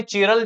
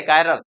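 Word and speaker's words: chiral: carbon आप बोलेंगे master इसका स्पेलिंग तो हमें चीरल दिख रहा है नहीं चरल स्पेलिंग है लेकिन बोलना क्या है कायरल कितने कौन से कार्बन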